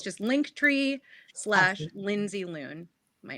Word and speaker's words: Lindsey Loon: TR SL lindsy loon and it's Lindsay like Lohan but not and spelled with an ey as Lindsay should be spelled l n DS e y loon like Looney Tunes so it's just link